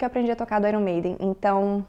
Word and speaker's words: Iron Maiden: de Iron Maiden agora em inglês nós falamos Iron Maiden Iron Maiden inclusive é uma associação na pronúncia é de I Earn né como se fosse eu recebo ir Earn irn made e ó o seguinte